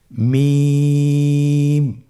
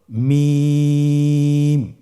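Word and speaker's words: ميم: মিম হরফটি উচ্চারণের ক্ষেত্রে অবশ্যই বারিক হবে, পাতলা হবে এবং তিন আলিফ টেনে উচ্চারণ করতে হবে। আমার সাথে আরেকবার চেষ্টা করুন। মিম। আবার বলুন মিম।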